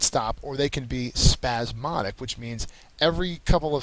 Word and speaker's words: spasmodic: is abandon number 18 spasmodic spasmodic is how you pronounce this word um it is an adjective second syllable is accented it is fitful or